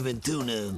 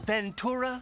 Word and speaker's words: Ventura: not the villain boss pronounces Ace's last name wrong all the time show Mr ventuna Ventura exactly more choices come up